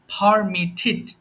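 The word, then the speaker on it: permitted: তাহলে শব্দের শেষে যদি টিইডি পায় তাহলে সেটাকে আমরা ঠিড উচ্চারণ করব। সো এটা হয়ে যাবে পারমিটেড।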